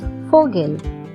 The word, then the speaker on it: Vogel: The letter V is pronounced as F, same as the letter F. So the word is pronounced as Vogel.